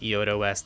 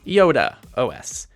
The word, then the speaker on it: iodéOS: Yes, people, I embarrassingly called it iodéOS the entire review without bothering to look up that it's actually pronounced iodéOS.